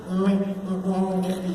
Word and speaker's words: Mignogna: Vic Mignogna. You nailed it. I love you, Asia. It's Italian. It looks like Mignogna, right? But the GN combination is makes a sound, like lasagna, Bologna, right? Montagna, filet mignon.